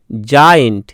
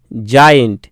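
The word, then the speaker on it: giant: জি ই এম, জেম, জি আই এ এন টি, জায়েন্ট, জায়েন্ট। দেখো বর্গীয় জ আসছে, জি এর উচ্চারণ বর্গীয় জ আসছে, ঠিক আছে।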